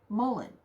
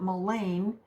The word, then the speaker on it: mullein: is going to be mullen or some people pronounce it mullane depending on what part of the country you're at so let me first